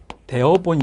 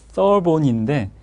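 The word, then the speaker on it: Therborn: 이것이 이제 책마다 터본이라고 하기도 하고 서본이라고 하기도 하고, 또 어떤 책은 대어본, 이렇게 여러 가지 표현을 하고 있는데 이게 스펠링이 정확히 어떻게 되냐면 TH 발음이어서 그렇습니다. BORN인데요. RN입니다. 그러니까 이게 그 TH 이 발음이다 보니까 우리나라에 없는 발음이어서 이 서본인데 이거를 터본이라고 쓰기도 하고 서본이라고 쓰기도 하고 대어본이라고 쓰기도 하고 다 같은 말입니다. 이게 외국 학자라 표기의 차이일 뿐입니다. 자, 이 학자가 프롤레타리아 복지국가와 부르주아 복지국가로 구분을 했습니다.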